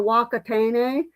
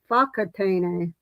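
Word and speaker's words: Whakatāne: that I I was calling a wakatane, but it says it's fak fakatane.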